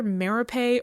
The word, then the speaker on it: Merope: I mean, it is a name and it's pronounced in different ways in different contexts. My understanding, like, it would be Merope if this was Greece, but it's England and they pronounce everything funny.